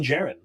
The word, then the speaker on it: Djarin: You can't get a Din Djarin. You can make as many Din Djarins as you want. Is that how you say it? I always said Din Djarin, right? But I think that D is silent.